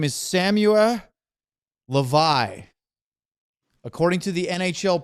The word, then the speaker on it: Hlavaj: His name is Samuel Hlavaj. According to the NHL pronunciation guide, it's Hlavaj.